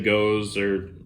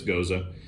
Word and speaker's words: gose: Now, Gose is spelled Gose. Yeah, some people say Gose, but it's Gose.